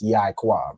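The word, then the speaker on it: יעקב: In this instance, with Yaquab, the Ya and the I are actually connected. Okay, so it's like it's pronounced Yaquab, right? So the Ya and the I make the Yai, and the Kwa and Ba make Quab.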